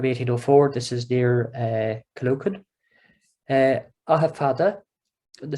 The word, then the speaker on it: Aughafoda: Ahafada, and the spelling here, Aughafoda, it's pretty much, it's a very, very close approximation of how that name would be pronounced in Irish.